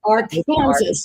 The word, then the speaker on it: Arkansas: it is not the Arkansas River. It is the Ar Kansas River. Oh my goodness. It is not the Arkansas River. In Texas, it's Arkansas. It's our Kansas.